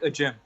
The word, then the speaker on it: Ajim: Ajim.